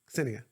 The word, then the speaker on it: Ksenia: So when I first met her, I was like, "How do you say her name?" And she goes, "Ksenia." I'm like, "With a K?" She goes, "Yeah." And I said, "Ksenia." She goes, "That's good."